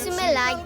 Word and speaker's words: Σουμελά: The monastery of Panagia Sumela gets its name from the mountain it is built on, Mela. In Greek, Stone Mela means at Mela, and in Pontic dialect it is pronounced Su Mela.